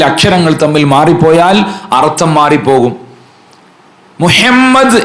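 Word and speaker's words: محمد: തമ്മിൽ മാറിപ്പോയാൽ അർത്ഥം മാറിപ്പോകും മുഹമ്മദ് എന്ന് പറയുമ്പോൾ അശ്ഹദു അന്ന മുഹമ്മദ് റസൂലുള്ള അവിടെ മുഹമ്മദ് റസൂലുള്ള എന്ന് പറഞ്ഞാൽ നമ്മുടെ അത്തഹിയ്യാത്തും നമ്മുടെ ശഹാദത്ത് കലിമയും ഒക്കെ തെറ്റാണ് ഹാ തന്നെ പറയണം ഹാ ആയി പോകരുത് എന്റെ ഉമ്മമാരെ നമ്മൾ നല്ലോണം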